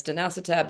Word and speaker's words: dasatinib: The most sort of common at the time is a combination of something called quercetin and dasatinib. And some people pronounce it differently. It's danacitab, dasatinib, doesn't really matter.